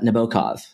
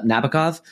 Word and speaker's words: Nabokov: then the proper pronunciation you have to use like a Russian accent uh and so I'm